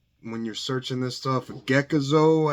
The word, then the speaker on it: Gekizo: you're searching this stuff geckozo I think is how you pronounce it GE uh k-i-z-o you also see Plex